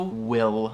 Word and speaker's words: will: Mas no inglês, claro que tem que puxar esse L, esse light L se chama na frente da boca quando pronuncia a palavra assim.